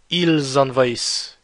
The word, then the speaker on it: envahissent: Notice the S, which is followed by the next word starting letter by a vowel, and you pronounce l'élision. You pronounce ils envahissent. You pronounce this S as a Z because it's followed by this vowel of the next word.